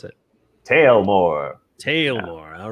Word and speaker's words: Taelmoor: got so here it is here's kickstart uh tell more in kickstarter is it tell more tale more how do you pronounce it tale more tale more all right actually i like this way the